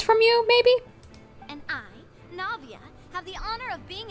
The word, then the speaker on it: Navia: Navia is fine now I know how to pronounce it Navia so you rasula anyway all merely trifling details